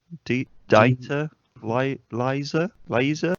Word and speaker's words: Dieter Laser: It's not laser, but it's spelled laser. Just typing. Dieter Laser has died. I'm just trying to find his fucking name. It's spelled D-I-E. Data. Dieter Laser. Dieter Laser. Data.